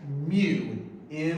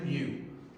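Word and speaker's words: μ: Now, in terms of how it's pronounced, that term is pronounced as mu, mu. Okay? So that coefficient of friction is pronounced mu.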